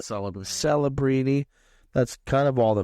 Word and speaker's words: Celebrini: We slammed it because this Calabrini kid, or how do you say it? Celebrini.